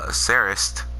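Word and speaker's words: Seris: my rambha you have saris with the tea at the end of the name because that's the way she pronounces it saris she she's an amazing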